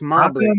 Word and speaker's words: Mobley: I would not have pronounced that last name that way. It's Mobley, M-O-B-L-E-Y. I know, but I would have said Mobley. A lot of people do.